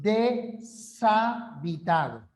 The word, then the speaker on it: deshabitado: en la d zanahoria fíjense la H no representa ningún sonido ya la H no representa ningún sonido la pronunciación correcta y hablo de pronunciación porque la sílaba es un fenómeno del habla ya es la mínima unidad del habla entonces tú dices de savitado otros casos Cómo separas